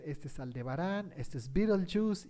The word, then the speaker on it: Betelgeuse: Se escribe Betelgeuse, pero se pronuncia Betelgeuse, está en una esquinita de Orión.